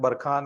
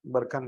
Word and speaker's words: बरखन: किताब देखेंगे तो उसमें बरखान या बरखन लिखा होगा, तो वो सही प्रोनाउंसिएशन तो वैसे देख, सही चीज तो बरखान ही है, बरखान लिखा रहता है वो गलत है, बरखन। क्या हो जाएगा?